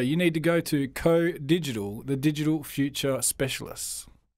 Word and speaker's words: COH: The H is silent. COH Digital.